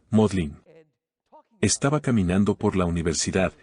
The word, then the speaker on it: Magdalen: md College de Oxford se escribe m aln Magdalena pero los británicos por alguna razón desconocida lo pronuncian modlin estaba caminando por la